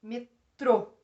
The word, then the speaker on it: metrô: Qual é a sílaba mais forte? Metrô. É o trô.